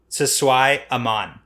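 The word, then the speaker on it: siswai'aman: You nailed that pronunciation. Nice. So, first off, for the record, Aviendha... Sisway-man. Siswai-aman.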